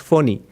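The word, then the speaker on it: Fani: india for pony it's most people pronounce it funny but supposed to be pronounced phony uh there's nothing phony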